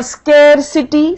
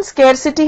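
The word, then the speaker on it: scarcity: और स्केरसिटी, स्केरसिटी मतलब होता है कमी हो गई है किसी चीज की। इसकी प्रोनाउंसिएशन स्केरसिटी है, जबकि बहुत लोग इसको स्कारसिटी, स्कारसिटी कहते हैं, वो नहीं है।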